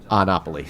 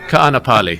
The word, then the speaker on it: Kaanapali: Actually, in Hawaiian, you pronounce every vowel and every syllable.